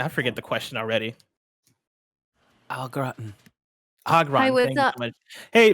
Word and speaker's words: au gratin: It's pronounced au gratin.